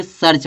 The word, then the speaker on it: search: जैसे हमको लिखना सर्च, तो सर्च किसे लिखेंगे? SEARCH। इसको हम क्या पढ़ेंगे? सर्च पढ़ेंगे। जहाँ पे जो ये EA है, इस EA का उच्चारण क्या निकल रहा है? छोटा आ, छोटा आ निकल रहा है ना।